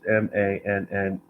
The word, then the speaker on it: Manneh: Mane was, and I don't know how to pronounce this guy's name. It's Manneh.